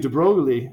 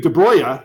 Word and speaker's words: de Broglie: they're not like they don't have wavelengths louise de Broglie or louise de braga let's pronounce his name right christ criminy excuse me